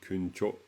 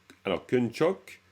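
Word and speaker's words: དཀོན་མཆོག: Alors, kunchok ou kuncho. Hein? Kuncho. Kuncho sumla chatselo kun. Hein? Kuncho. Cho. Le chok, c'est possible. Peut-être qu'au Ladakh, on le prononce comme ça. Allez savoir. Mais disons, c'est plutôt kuncho.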